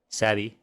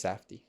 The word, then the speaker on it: Safdie: I think it's Safdie. Safdie? Yeah. Man, I can never get it right. They're foreign. It's okay. My speech impediment impedes me too often. Yeah, it's Safdie brothers.